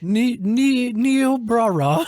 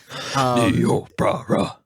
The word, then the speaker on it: Niobrara: had disrupted the local programming what was the pronunciation on that, Mike? Niobrara. Niobrara? Niobrara.